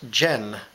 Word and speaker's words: dze: muskrat is simply just gin it sounds like a J sound but we spell it with a D and the Z dze and Jen there's a lot